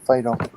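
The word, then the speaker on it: Phideaux: and it was uh named p-h-y uh d-e-a-u-x fido okay yeah s-a-u-x c-a-u-x c-u-x also e-u-x yes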